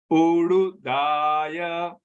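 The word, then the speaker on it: उडुदय: Ududaya. The D here has a dot under it. So how do you pronounce it? Udu. There's a harsh sound.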